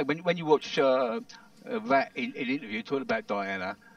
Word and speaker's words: Rat: the voice of Roland Rat? No. Roland Rat, his name is a French name, Raimondo or something like Raimondo. Okay. And his last name is spelled Rat, R-A-T, but it's pronounced, apparently, Ra.